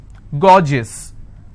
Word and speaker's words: gorgeous: example i have a word gorgeous so gor jis two syllable i will stress on gore s-i-o-n